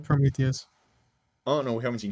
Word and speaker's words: Prometheus: and yeah, Is it yeah, like pretty fucking Polymeus? How do you say his name? Prometheus.